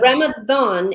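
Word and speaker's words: Ramadan: But Ramathon is its pronunciation. Just it's spelled with a D because it's Arabic.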